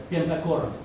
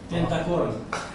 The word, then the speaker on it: pentachoron: By the way, I found in the internet that it is called pentachoron. Penta what? Pentachoron. Do I pronounce it correctly, English speakers?